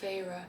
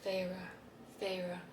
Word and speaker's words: Feyre: So, oh, by the way, I say her name as, I think I pronounce it Feyre. When I was reading it, I was like, Feyre.